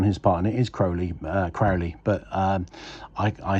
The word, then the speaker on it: Crowley: Well, I pronounce it Crowley because he rhymed it with holy in one of his poems.